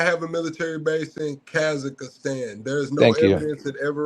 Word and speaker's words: Kazakhstan: It's It's Kakistan. Kazak. No, it's Kazakhstan.